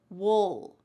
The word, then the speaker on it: we'll: But when we're speaking relatively fast in American English, we often reduce this and it just sounds like wool. Wool. You're almost swallowing that final sound.